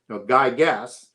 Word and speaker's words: Gyges: So Gyges is the root word for Gyges, as we would pronounce it with a hard G, is the root word for Gyges and for gigantic, and it meant giant.